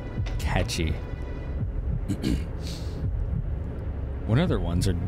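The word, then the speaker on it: Cait Sith: one kitty but like unless you speak like Irish Gaelic or whatever right you wouldn't know it's like catchy I thought it was Kate Sith catchy what other ones are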